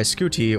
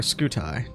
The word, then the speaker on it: Scuti: out here we have UI scooty or scooti depends how you want to pronounce it the largest star that